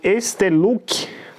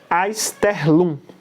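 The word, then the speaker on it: Einstellung: É um efeito que eu falo Esterluck, mas se pronuncia Aisterlum.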